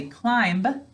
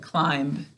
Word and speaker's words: climb: Wait, in our word, this is silent. What do we do to any silent letter? Good, we double underline it. So pick up your pencil. Because when we're saying this word, we just say those sounds. That's why we have to say climb to spell it.